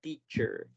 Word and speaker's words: teacher: Entonces, teacher. Muchas personas les ayuda a imaginarse que hay una T chiquita antes de la CH y la tratamos de pronunciar.